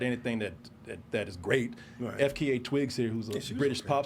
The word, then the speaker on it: FKA twigs: wait what's her name FKA twigs FKA F FK I'm sorry FK FKA twig FKA I don't think you pronounce it you just got to say the letters yeah pronounce it ain't